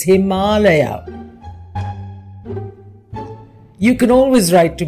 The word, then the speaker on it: Himalaya: give any Foreigner who calls the mountains the himaya the same advice go to YouTube and listen to how we pronounce our Sanskrit word it's Himalaya you can always write to me at p55